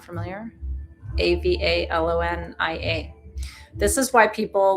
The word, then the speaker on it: Avalonia: Avalonia, it's hard not to pronounce it in Greek, it's Avalonia, was attached originally to Gondwana at the point where Africa is located.